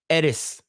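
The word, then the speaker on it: Aerith: entire time right because in Japanese they call it Edis right like Edith yeah like it's sort like T and H is like mixes yeah this reminds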